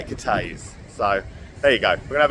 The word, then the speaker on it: Cathays: Uh pub number one and it is cate is the area, not cafes as it is spelled say kay.